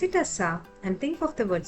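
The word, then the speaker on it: स: So remember, whenever you see the letter Sa, pronounce it as Sa and think of the word Suraj, the bright sun.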